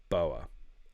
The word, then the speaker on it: Boer: But anyway, that's it's boar as in boar. So I think it's Boer. I was told specifically today that it was Boer War, but I wouldn't be the first time I've mispronounced something.